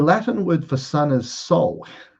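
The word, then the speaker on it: sol: The Latin word for sun is soul. S O L, right? Which is pronounced exactly the same as our authentic makeup as a soul.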